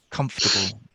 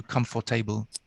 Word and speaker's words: comfortable: to say because this is a very common pronunciation issue that most people make this mistake um with the word comfortable comfortable comfortable comfortable yeah you said as many people do come for table i think yeah but um i didn't realize